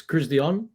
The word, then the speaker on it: Christian: It's CRISDEON. CRISDEON. So, but Christian's okay if it's easier.